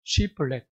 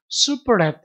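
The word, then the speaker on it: שיבולת: 시플렛. 이 히브리어 발음으로는 시플렛입니다. 시플렛. 예. 여러분 슈플렛 이게 조금 더 정확한 발음인데 이 슈플렛라는 것은요.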